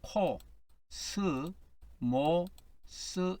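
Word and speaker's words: κόσμος: 이거는 코, 스, 모, 스 이렇게 됩니다.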